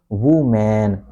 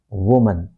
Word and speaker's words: woman: It is not woo man. It is not wman. It is woman. Woman. Next time say woman. Woman. So stress is on the first syllable.